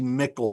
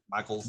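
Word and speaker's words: Mikels: the Astro Zombies by Ted V. Mickle, or however his last name is pronounced. Michaels, yes. Okay.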